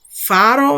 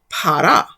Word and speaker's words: pharaoh: Instead of saying pharaoh, you will hear us saying para, which is how our ancestors likely pronounced it.